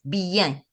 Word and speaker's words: bien: Okay, so it's bien because we are pronouncing the I, E, N all together as one sound.